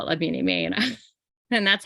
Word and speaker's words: Aimée: So you say la bien, and then aimée. La bien. Aimée. So if you're pronouncing it phonetically, it's like EH-MAY. Aimée.